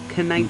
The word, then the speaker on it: Knighton: Or he's actually Knighton, I think. Knighton. You pronounce the K.